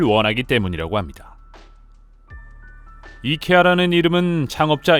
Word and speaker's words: IKEA: 때문인 것으로 보입니다 사실 북미 권 이케아 에서도 사내 공식 빠른 법은 이케아 라고 읽는 것이라고 꾸준히 홍보하고 있지만 말이죠 하지만 워낙 아이케어 라는 발음이 널리 퍼지다 보니 미국과 캐나다 쪽에서 는 여전히 아이키아 로 발음하고 있으며 정작 이케아 라고 하면 아무도 못알아 듣는다고 하죠 영어 권이라도 영국 같은